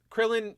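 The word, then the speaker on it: Kuririn: says uh kururin uh kururin is how they say it in Japan also the or K kururin yeah um Krillin is how I know it but I also like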